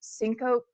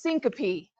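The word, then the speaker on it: syncope: Everyone, I'm so sorry, but apparently I pronounced sinop that's wrong. Sinop is wrong. It's syncopy. Okay. I have heard it both ways. I've heard it both ways, but not tomato. Syncopy is correct.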